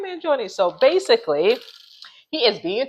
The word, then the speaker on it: Mangione: man I'm gonna see see if I can pronounce it right man Jon yay I said it right man Jon so basically he is being charged you guys